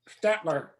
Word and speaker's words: Staedtler: How do you pronounce Staedtler. that? Staedtler.